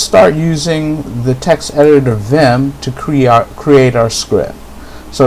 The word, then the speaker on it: Vim: is, and also for Vim, if you don't have that natively installed on your Linux system, Vim is a text editor. It's spelled Victor Indian Michael, that's VIM.